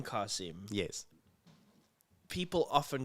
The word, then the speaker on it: Qasim: So and an Arab called me Qasim, and I was like, say that again, Qasim, and it's spelled Qasim. So that's the difference. It's the Arabic, the way you say it, and the name is Arabic.